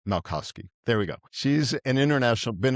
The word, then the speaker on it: Malkoski: So my guest today is Kris Malkoski. See, I already messed it up, Kris. Kris Malkoski. Close? Malkoski. How do you say it? Let's help me out there. Malkoski. Malkoski. All right, Malkoski.